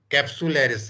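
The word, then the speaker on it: capsularis: type है उसके spelling आप लिख लो फिर प्रोनाउंस कर लेना इसको सी ए कैप्सूलरिस वसे कैप्सूलरिस सी ए पी एस यू सी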